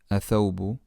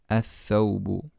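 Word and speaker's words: الثوب: Not athawbu. Ath-thawbu.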